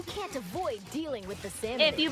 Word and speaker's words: salmonids: I just pronounced it salmonoids. More. Yeah, salmonids. I thought it was salmonoids. I added an O. Salmonirnids. So, salmonids.